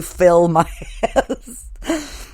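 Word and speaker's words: Philmias: fill my ass okay that one is really up because if you look at the way it's spelled it's p-h-i-l-m-i-a-s so it looks like Phil Mias but it's really fill my ass then here's another one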